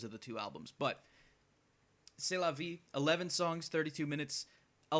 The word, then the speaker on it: C'est la vie: For the longest time, I pronounced it Zest la vie, because there was the tour they went on after this album released was called the Zest la vie tour, because it's their sophomore album.